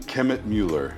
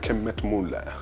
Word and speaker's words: Kemmetmueller: Is it the correct pronunciation? Kemmetmueller. Kemmetmueller.